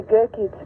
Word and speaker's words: Gerke: Gear? I do not say my surname. Are you Gear? Yes, I am. Is that the pronunciation? It's actually Gerke. It's German.